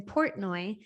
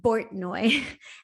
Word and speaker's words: Portnoy: laughing so hard because instead of calling me Catherine Portnoy, they kept calling me during the entire wedding ceremony, Katerina Bortnoy. Even though he was seeing a P, he was pronouncing it with a B.